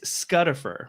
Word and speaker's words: Scutifer: you call him lucer how do you pronounce giraffe do you say GFF I say giraffe vowels and consonants are not the same thing I say Lucifer I feel like I just had a bad V movement on camera Rhymes it rhymes with it rhymes with butt scut we're gonna fight it's